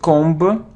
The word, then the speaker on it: comb: ancient so it isn't combo combo cone it's comb oh and without beef don't pronounce be comb comb it isn't plumber' hello